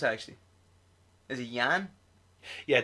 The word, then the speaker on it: Jan: Is it Jan? Yeah, the J is pronounced like a Y.